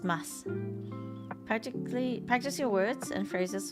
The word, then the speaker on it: ます: In everyday spoken Japanese, the final u in words containing mas is silent and the word is pronounced as mas.